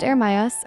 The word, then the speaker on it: Ermias: Ermias, pronounced Ermias, Ermias is an Amharic variation of the Hebrew name Jeremiah and means appointed by God.